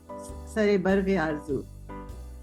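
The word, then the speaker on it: सरो बर्ग-ए-आरज़ू: बाद सरे बर्ग आरजू।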